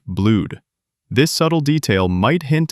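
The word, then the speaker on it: Blüdhaven: Nightwing in the comics, he mispronounces it as Blued Haven, using proper English pronunciation rather than the Germanic Blude.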